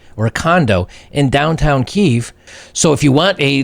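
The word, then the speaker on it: Kyiv: this girl does from Kiev they have say Kiev but they pronounce it Keefe in Keefe and when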